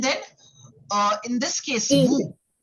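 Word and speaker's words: vous: So can you say that Paul comma tal and then uh in this case vu vu ends with s. Okay. So the s will be silent.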